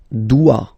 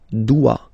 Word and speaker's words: dois: Je dois. Okay, remember final S is not pronounced. Je dois. OE, when you combine the two, you get the sound wa wa wa. Je dois.